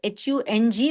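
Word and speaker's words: hūṃ: But it's easier when we spell it H-U-N-G, because then we clearly understand that that nasal sound has to come.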